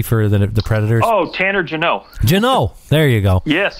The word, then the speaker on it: Jeannot: Jeanette? The rookie for the Predators. Oh, Tanner Jeannot.